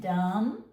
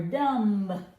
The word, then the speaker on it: dumb: So you can teach it dumb or dumb.